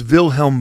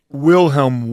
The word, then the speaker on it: Wilhelm: claim uh something similar his name is vilhelm V Metal By the way but it's spelled with a W sorry Wilhelm Y metal is how us you know non Germanic languaged folks uh would read it although I'll bet our